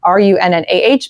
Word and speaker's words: Runnah: can join me over on Runnah, Runnah, because that's how you say it in Massachusetts.